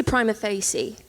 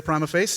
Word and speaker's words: prima facie: multitude of ways yeah I remember I say prima facie and then I'm gonna say primer face yeah on YouTube though there's an actual video